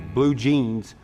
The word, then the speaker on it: Blue Gene's: Well, the name of the album is Blue Jeans, but jeans is spelled G-E-N-E apostrophe S, like your genealogy.